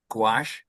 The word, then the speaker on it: gouache: Did I pronounce that right? It's gouache. Gouache.